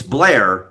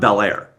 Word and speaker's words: Bel Air: Just like if you're south of the line, it's Blair, not Bel Air.